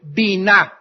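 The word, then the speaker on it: בינה: La palabra inteligencia en el hebreo es la palabra bina. B grande, Y, N, A, H. Bina.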